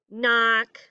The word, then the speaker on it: knock: So all of the words this week that sound like they start with an N, like knee, knock, knew, no, knuckle, all of those have a silent K at the front.